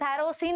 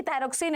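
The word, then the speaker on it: thyroxine: होता है thyrocin regulates थायरा सीन नहीं है एक्चुअली थायरोक्सिन है इट इस अन थायरोक्सिन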